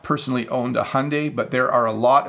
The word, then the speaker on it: Hyundai: Some people pronounce this wrong. My understanding is that the pronunciation is Hyundai.